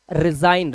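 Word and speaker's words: resign: तो, रिजाइन जो वर्ड है रिजाइन, इसके अंदर भी जी हमारा साइलेंट होता है।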